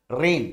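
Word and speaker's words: reign: म्हणजे थांबवणे आणि घोड्याच काय ओडल जात मित्रांनो रेन याच स्पेलिंग तुमच बेसिकली आर आय एन त्यामुळे साठी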